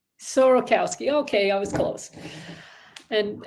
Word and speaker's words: Sorokowsky: it up so my first name is sarkowski yeah sir say again sorokowski sorokowski okay I was close and and of course